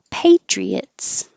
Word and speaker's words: Patriots: fun to say Peabody Patriots Patriots this Y is here because once your tongue is up for a e Patriot it's gonna slide down and make a a intrusive way Patriots the Pats now